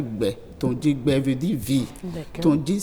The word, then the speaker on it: Gbetondji: Donc, nous allons parler aujourd'hui du prénom Gbetonji. On peut décomposer Gbetonji en 2 syllabes. Ça fait Gbetonji.